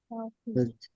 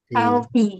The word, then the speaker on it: healthy: Healthy healthy. Healthy, healthy. So the healthy not tea but the fee. You put your tongue between your teeth and then you push the air out.